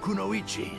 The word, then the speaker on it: kunoichi: who confronted it his challengers were the leaf kunoichi sakura haruna and sasori's own grandmother geo finally someone pronounces konoichi right regret resignation and emptiness as